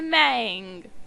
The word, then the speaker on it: Mang: And spawning on the bottom right side of the map, in red, our Protoss player, TY Mang, which one of my friends informs me is supposed to be pronounced man.